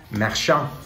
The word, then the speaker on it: Marchand: Here is our first retro, and it would happen to be Brad Marchand. I know people hate when I pronounce his name in French, but it just comes naturally to me.